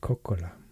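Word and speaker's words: Kokkola: to just coliby and in finnish it's called cocola two letter k in the middle so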